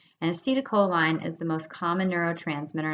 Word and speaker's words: acetylcholine: So this first one, everybody has a really hard time pronouncing always, but it's acetylcholine. And acetylcholine is the most common neurotransmitter, and that's because